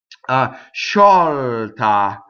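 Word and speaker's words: sciolta: Sci is she. S-C-I-O is shaw, so it's a soft. It's the I that makes the S-C weak or soft, right? Sciɔlta, sciɔlta. So now we have an open O in the middle of the word on the stress, sciɔlta.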